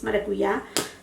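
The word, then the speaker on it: maracuyá: I think in, you know, English speaker people, they call it maracuya, but in Spanish it's maracuya.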